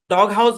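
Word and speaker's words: doghouse: সীমানা আলাদা হয়ে গেছে তাহলে এই শব্দের উচ্চারণ হচ্ছে ডগ আর এই শব্দের উচ্চারণ হাউস ভাই এটা মূলত একটা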